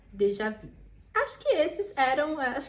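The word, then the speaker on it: déjà vu: ou menos isso então sairia de já vir deixar vir de já vi esse é o termo a mais correto né a pronunciação mais correta do termo Dejavú acho que esse eram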